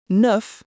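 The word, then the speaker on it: neuf: For f, n enough, you hear the th sound. And for l maul, bad. You hear the l sound. So remember c r l a flur nuf maul.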